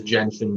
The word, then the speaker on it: Gentian: to choose okay so first question is it gentian or gentian we've been told by Porsche it is Jensen blue gentian gentian okay yeah that's what I was pronouncing it at first and then I heard